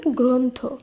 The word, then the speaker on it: গ্রন্থ: এই নিয়ম অনুসারে এই র ফলা যুক্ত ব্যঞ্জন বর্ণগুলির উচ্চারণ ওকার হিসেবে করতে হবে তাই গয় র ফলা